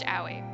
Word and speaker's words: Aoi: was my brother aoi he was yelling it's pronounced owie howie i followed him